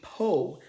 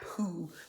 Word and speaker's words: Peau: letting Patrick know that he is pronouncing it incorrectly. It's supposed to be Peau, not Pooh, but Peau.